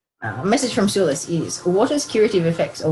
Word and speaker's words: Sulis: So it's pronounced Sulis. Sulis is a Celtic sun goddess who oversees bodies of water associated with healing.